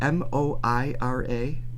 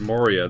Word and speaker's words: Moira: how youd say it m o i r a Moira I feel like that's right oh yeah Mo Moira yeah I thought you said Moria that's I think that's